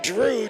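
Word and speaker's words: Jrue: yeah so you know Drew holiday of the Boston Celtics Jr u e is a spelling pronounced Drew little Gianna's name for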